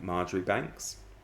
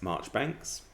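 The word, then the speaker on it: Marjoribanks: for example things like margaery banks which is not correct it's march banks chamondley which is not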